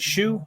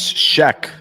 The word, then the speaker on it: Shea: you say this Jake is it shu is that right it's uh it's Shea actually really interesting and it's